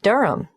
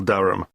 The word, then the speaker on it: Durham: at one uranga street durham how do you spell durham d-u-r-h-a-m of course i should know that but it's just one of those names that sounds quite different from the way you spell it it is confusing i've